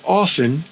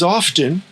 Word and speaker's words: often: Often often if you've ever pronounced often as often, there's a good chance that your English teacher has told you that the T is silent.